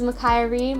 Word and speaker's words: Makiah Rea: as always this is Makai Reem my name rhymes with unfiltered me and that's how you